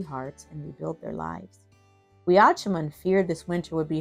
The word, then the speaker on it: Weeâchumun: All right, let's say it with the correct pronunciation. Weeâchumun.